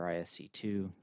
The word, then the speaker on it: ISC2: microsoft comptia giac and isc squared or isc2 depending on how you want to pronounce it that's just a few